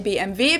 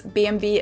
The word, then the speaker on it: BMW: In German, we say BMW because W is pronounced W in German, and it stands for Bayerische Motorenwerke, which means Bavarian Engine Works. And of course, BMW is located in my hometown, Munich, which is